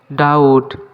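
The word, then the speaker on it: doubt: ডাউট এখানে be silent ডাউট মানে সন্দেহ আমার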